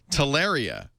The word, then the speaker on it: Taria: Google acquired Taria, which I'm sorry, I don't think you should name a company anything that rhymes with malaria.